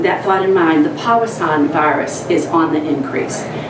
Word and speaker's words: Powassan: So with that thought in mind, the Powassan virus is on the increase.